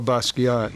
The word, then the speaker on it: Basquiat: Is that how you pronounce it? Jean-Michel Basquiat.